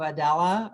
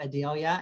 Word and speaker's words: Adela: Stokesay Street runs into Adela, or as we call in Ludlow, Adelia. And don't ask why. I don't know why we call it Adelia.